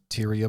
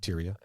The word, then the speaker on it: Tyria: love of her life tyria Moore is that how you say it tyia y I would call it a t y r i a tyia she was a hotel